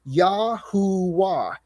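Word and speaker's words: Yahuah: So the y vave should actually be pronounced yahooah.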